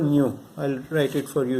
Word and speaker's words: mu: this is the Greek letter, Greek alphabet called mu. I'll write it for you here. It's written like this, okay? But some people just write U. This is pronounced mu, okay?